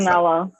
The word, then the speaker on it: Manganiello: Jason Momoa, Joe Manganiello. That's how it's pronounced, right? I know Manganiello. who it is. I just never know how to say it. Manganiello.